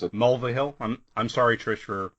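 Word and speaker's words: Mulvihill: hill mville hill that's that's how I would pronounce it mulvahill I'm I'm sorry Trish for butchering your name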